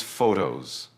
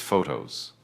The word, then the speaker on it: photos: Next is photos. Use the British diphthong. It is not photo. It is photos.